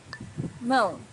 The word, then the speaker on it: Mão: Mão, hand. Mão's a little bit difficult to pronounce for beginners because of this nasal sound, but try to practice it and you'll get better and better each time.